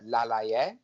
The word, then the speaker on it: Laleye: notice the fact that I've pronounced the surname a slightly different way to most ring announcers when they when they call his name out so we'll talk about